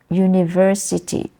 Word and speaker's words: university: place for example yeah university university the stress is in the university the third syllable you University but many people don't do that they will just say University or you know University they will say or